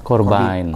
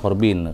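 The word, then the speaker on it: Corbijn: videografer sutradara Anton eh korban korban nonton korban orang Belanda bukan korban ya orang bilangnya corbin kalau ejaan Belanda itu namanya banyak korban vokalisnya irfannya juga kan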